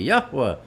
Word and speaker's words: Yahweh: all the Hebrew stuff for years, and then pronouncing the Father's name properly, Yahweh, for years, and who have now nixed the whole thing.